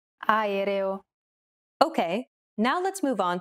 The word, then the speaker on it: aereo: Even when there are two or more vowels in a row, just pronounce them separately. Aereo.